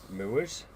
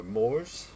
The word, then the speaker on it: Moore's: a company called MERS it's m r e s MERS or Moors as some people would pronounce and uh so yeah